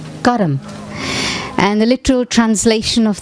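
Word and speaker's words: कर्म: myself and my actions this word actually in hindi or in in sanskrit is pronounced karam and the literal translation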